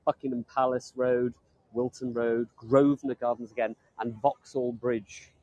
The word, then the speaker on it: Grosvenor: Grove Terminus so g-r-o-s-b-e-n-o-r Grosvenor this is the way we pronounce things in the UK rather than Grosvenor but there was a